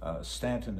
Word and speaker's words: Staunton: Stanton is spelled S-T-A-U-N-T-O-N.